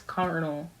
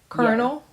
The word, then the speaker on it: colonel: Air Force colonel. Colonel? Yeah. Colonel. Colonel. Yes. But it's spelled not like colonel at all, like colonel.